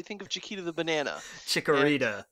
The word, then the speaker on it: Chikorita: Chiquita, I believe, is the name. That's just what I call it because I think of Chiquita the banana. Chikorita. Yeah, there's another Chikorita, syllable in there.